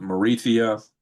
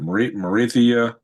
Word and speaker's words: Mauritius: We know he was trying to give the island to Mauritius.